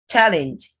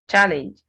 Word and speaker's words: challenge: Challenge. Challenge. Whether noun or verb, this word is challenge. Whether it's a noun or a verb, this word is challenge. It's not challenge as a verb.